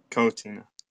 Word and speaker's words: QuoTina: I'm doing well and um I know I've pronounced your name right before I'm gonna try it again CA cotina cotina okay good I I I for some reason